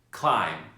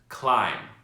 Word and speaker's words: climb: Climb. Repeat after me. Climb. In the word climb, we see that the letter M will be followed by the letter B. So the B is silent.